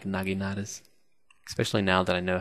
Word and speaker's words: naginata: It only took me about 40 episodes of Shogun 2 to finally be like, oh, it's pronounced Naginata, not Nagenta.